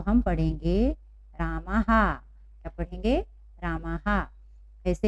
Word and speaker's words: रामः: जब शब्द के अंत में यह आता है, यदि उसके पहले कोई मात्रा ना हो तो हम बोलेंगे ह, है ना।